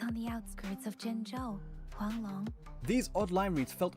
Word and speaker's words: Huanglong: Okay, respectfully, that is the accurate pronunciation of the word in CN though.